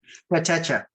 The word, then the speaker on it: Kotecha: Kotecha. Am I saying that right? Kotecha.